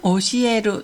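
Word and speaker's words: 教える: 훈독으로는 오시에루 또는 오소와루라고 읽습니다.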